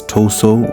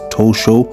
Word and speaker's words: Omotoso: Ladies and gentlemen, Aki Omotoso. Thank you. Akinrin Müller aka Akinomsho last name written and reads Tosso with a SO but it's actually pronounced Tosho with a ho was born on November